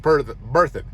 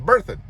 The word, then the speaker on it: Berthoud: Love's truck stop on I-25, and it is pronounced Berthoud. I asked the woman inside there, I was like, how do you pronounce the name of this town? And she said Berthoud. I'm like, okay, so it's Berthoud.